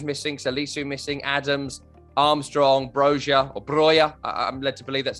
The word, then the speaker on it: Broja: Romeu's missing, Salisu missing, Adams, Armstrong, Broja.